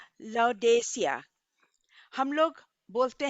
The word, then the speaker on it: Laodicea: सातों churches Turkey में है, और उनका प्रोनाउंसिएशन है अ, ले आ डे किया, ले आ डे किया। और हम लोग लाउडेसिया बोलते हैं ना।